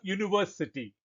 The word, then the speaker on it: university: For example, a university. It begins with the letter U, but the sound is U, the consonant sound.